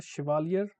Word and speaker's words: Chevalier: He has got the Chevalier, very difficult name to pronounce here. So it is the French word, okay.